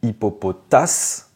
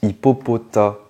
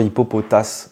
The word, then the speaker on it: Hippopotas: moi je disais toujours Hippopotas aussi mais non c'est Hippopotas c'est un mélange de hippopotame et de taas un gros tas voilà ça c'est le le S ne se prononce pas hippopota Pokémon suivant celui-ci